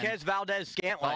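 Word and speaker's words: Marquez Valdes-Scantling: Marquez Valdez Gantling.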